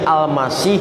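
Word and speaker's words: المسيح: Bukan Arab asli, tapi serapan dari Ibrani Mesiah, jadi Al-Masih dalam pelafalan Arab.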